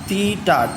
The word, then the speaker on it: theta: ஸோ ஆக்சுவலாக இதுக்கு name வந்து தீட்டா, THETA. ஸோ பொதுவாக எல்லோரும் டீட்டான்னு தான் சொல்லுவோம். Okay, so just for information, இதுக்கு பேர் தீட்டான்னு சொல்லுவாங்க. பட் டீட்டான்னு தான் வி யூஸ் to pronounce. Fine, முடிஞ்சதுன்னா தீட்டானே சொல்லுவோம், நாட் அன் இஷ்யூ.